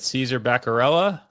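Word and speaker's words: Caesar Bacarella: So, this this first driver, I can't say his name uh to kick things off, but Caesar Berella, you got it right.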